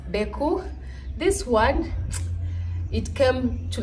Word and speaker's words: Gbeku: African dance move Deku the g is silent I've had so it's beku this one it came